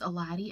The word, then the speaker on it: Elady: So, I mean, it's Eladi, and it's spelled like Elady. E-L-A-D-Y. I don't think there's anybody else with my name.